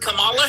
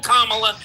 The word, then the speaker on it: Kamala: I have heard Camala Harris in this state. I live in California. I have listened I've heard her call Kamala for the last 10 years.